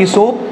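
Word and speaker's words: Aesop: Author का नाम है इसोप, ए साइलेंट है.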